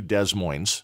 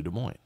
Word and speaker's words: Des Moines: background originally and uh the s's are silent just like in the state of Illinois it's not Illinois who taught these people the capitals in the states in school it's just it's amazing to me so we were not uh we were not on a flight to Des Moines from Miami last night we were on a flight to De Mo so let's talk about